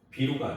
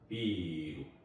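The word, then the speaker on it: ビール: 자, 보통 영어 스펠링을 그대로 일본에서는 카타카나로 썼기 때문에 보통 이제 모음이 한 번 더 이게 더 써지고 그러잖아요. 그러면은 그걸 이제 장음 표시로 대체를 했어요. 그래서 비루가 아니에요. 비루 이런 식으로 해서 모음을 장음 표시로 했다.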